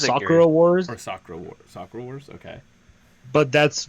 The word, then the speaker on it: Sakura Wars: Wars, Or Sakura Wars? Sakura Wars? Okay. but that's Is it because more like Sakura? maybe so the way I pronounce it is the way I